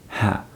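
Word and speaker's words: ح: But it comes so close to the sound of English letter H. Yeah. But you don't say ha. Just say it. Just pronounce from your throat.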